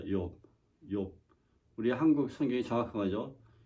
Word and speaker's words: 욥: 조이라고 바람하는데 왜 그런가 생각해봤더니 히브리 원래 말은 욥이라는 말입니다. 욥. 욥.